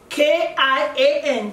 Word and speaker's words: Kian: So meet Kian, and most of you spell it as K-I-O-N. No, that's not the correct spelling. The correct spelling is K-I-A-N, Kian.